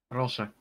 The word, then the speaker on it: proszę: Proszę.